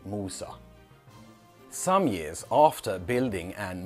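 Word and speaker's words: موسى: This shows that very little has changed since in many languages they still say Mosa and in Arabic they say Musa.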